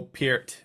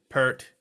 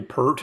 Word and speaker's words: Peart: like the the Neil Peart thing Neil Peart part Neil pert yeah I said Neil pert